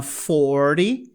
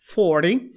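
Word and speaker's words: forty: 40 é a mesma coisa, ó, ele vira um flap, então fica 40, 40.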